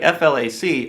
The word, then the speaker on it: FLAC: addition to MP3 here like f Lac or Flack for people like me that don't have time to say four syllables flack's what's called a